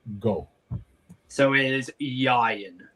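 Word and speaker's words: Ieuan: So it is Yayan. Yayan. And the best way I can probably teach people to pronounce it is think of Ryan, but replace the R with a Y.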